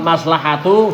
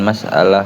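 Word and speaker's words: مصلحة: Terus Wal muslihati wal maslahatu fihi, wal maslahatu fihi, dan masalah di dalamnya. Apa masalah? Wal maslahatu, maslahat. Kok masalah gimana sih? Dan maslahat di dalamnya.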